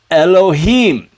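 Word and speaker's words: אֱלֹהִים: yo that's right Elohim now you notice this is a schwagatuff it's a half schwa uh so this is gonna be like uh the the uh sound with the uh so it's not a full vowels even though the dots are A's this is not an a this is a schwa the alif is silent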